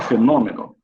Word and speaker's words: fenômeno: A palavra fenômeno, o vocábulo fenômeno, é acentuado por ser uma proparoxítona. Perfeito. Proparoxítona, que a antepenúltima sílaba é a mais forte.